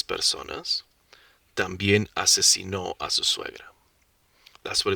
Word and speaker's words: asesinó: Now this one, it's supposed to say mató a 6 personas, también asesinó a su suegra. That's what it's supposed to say. But without the tildes, the stress falls into a different syllable.